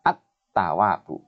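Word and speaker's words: ٱلتَّوَّابُ: Contoh yang keempat, al bertemu dengan ta. Jadi, cara membacanya al dimasukkan pada ta, sehingga lamnya tidak jelas, bagaikan tidak jelasnya memandang matahari di siang hari. Ini silau. Sehingga bacanya at-tawabu.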